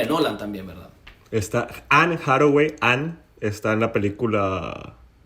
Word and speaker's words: Anne Hathaway: También tenemos a las que vendrían siendo las esposas de estos muchachos enamorados, que vendrían siendo Hannah Hathaway, su personaje se llama Lauren. Anne Hathaway. Así, ¿cómo se pronuncia?